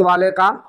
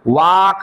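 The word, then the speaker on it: walk: आ sound नहीं होके वाक नहीं होके क्या हो रहा है वक हो रहा है और इस एल का आप कोई उच्चारण नहीं करेंगे इसको वाल्क नहीं पढ़ेंगे अगर आप इसको वाल्क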